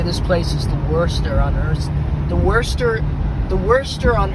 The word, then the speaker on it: Worcester: Because It's Worcester. It said like Worcester, but it's spelled like Worcester sauce.